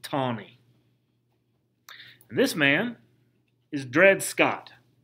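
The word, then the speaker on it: Taney: his name was roger tawny even though it's it's spelled t-a-n-e-y that they pronounce it tawny this man is dred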